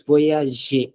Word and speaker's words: voyage: So if you read this word voyage, it's voyage, right? Yeah, It's je.